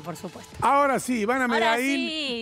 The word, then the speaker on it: Medail: No, Medail, Medail. Lo aprendiste. Me acento en la I.